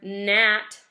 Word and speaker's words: gnat: ever seeing this word gnat your G is silent okay that word is